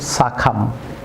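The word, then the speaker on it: succumb: Viewers যেমন be silent থাকবে, এটি বি, থাম। অবশ্য বলুন থাম। যেমন লিম, ভিউয়ার্স লিম। যেমন ওম, যেমন সাখাম, নট সাখাম।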